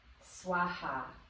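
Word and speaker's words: svāhā: with this is that that H sound has a little bit of an aspirated breath that comes afterwards so we could spell this like bhuva swaha and add like a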